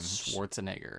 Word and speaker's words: Schwarzenegger: think i say it wrong all the time schwarzenegger schwarzenegger yes okay and sinbad can you say